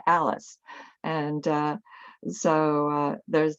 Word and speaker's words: Alice: times where the way he pronounced my name was Ellis you know like Ellis Island so that's the closest he could get to Alice and uh so uh